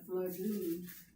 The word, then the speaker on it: flagon: of flesh, and a flagon of wine. Well, there you go. So even though, for reasons unknown to me, It's spelled different than I thought. Flagon, flagon, like a flag.